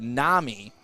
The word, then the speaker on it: NAMI: uh the domain name it's like namini yes so like it's like you just glanced quickly you can't say it wrong but as stick said it is nami and it does stand